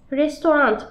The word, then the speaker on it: restaurant: Burada şu hataya düşülüyor. Restaurant. Burada T var ya. Bu İngilizce hali. Türkçesi restaurant. Yani Türkçesinin sonunda T yok.